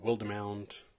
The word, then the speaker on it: Wildemount: I wasn't sure of how to pronounce it, if it was Wildemount or Wildemount. Somebody on Twitter told me that it's Wildemount, so that's what I'm going to call it.